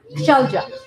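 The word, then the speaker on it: Shailja: Shelja. Shelja. Shelja. How do you spell that?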